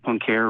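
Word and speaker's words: Poincaré: a little bit oh the punk here maybe you're pronouncing around there's like p-o-i-n okay sorry the in mathematics there's something called the pancare recurrence theorem um my name is saying it wrong but it's like p-o-i-n-c-a-r-r-e so I'm not familiar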